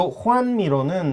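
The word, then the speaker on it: Joan Miró: 요 호안미로는 네. 지금 이제 까탈란 말, 이분도 바르셀로나와 카탈루냐 쪽 사람들인데요. 그쪽 말로는 호안이라고 네. 발음하고요. 스페인어로는 주한. 예, 호안미로라고 해요. 주안, 호안미로 이렇게 되어 있는데요. 후안이라고 발음을 후안. 하는데요. 후안.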